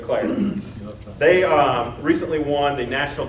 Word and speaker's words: Eau Claire: The city of, do we have any Wisconsin people that can pronounce that? Eau Claire. I don't know. It's missing Okay, the E. Eau Claire.